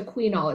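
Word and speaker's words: Qunol: So, but I use the quinol. It's spelled Q-U-N-O-L.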